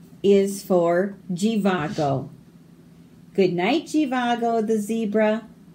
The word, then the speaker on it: Jivago: Z is for Jivago. Good night, Jivago the zebra. I've enjoyed our rendezvous. Z. So here, the Z sounds like a G. Jivago doesn't make the Z sound.